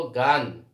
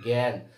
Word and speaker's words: জ্ঞান: আমরা যদি উচ্চারণ করি, দেখেন জ্ঞান, এখানে আছে আ, আমরা বলবো গান। গান কি এটা? না, এটার উচ্চারণ হচ্ছে জ্ঞান। তাহলে আকারটা উচ্চারণ হচ্ছে এর মতো।